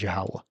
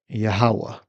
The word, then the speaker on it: Yahawah: The way you pronounce the Most High's name is Yahawah. All right. Yahawah.